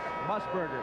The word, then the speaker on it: Musburger: How do you pronounce that again? His last name. Musburger.